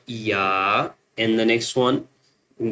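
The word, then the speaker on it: ي: The next one two dots down is you know two dots down called ya.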